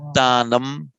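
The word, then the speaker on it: दानम्: The anuswara, the subdotted M, will, in the most correct form of utterance, take on the quality of the following consonant.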